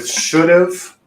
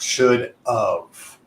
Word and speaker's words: should have: go so again we should have should have so you should feel a vibration because we're pronouncing the letter V it's not should of all right so pay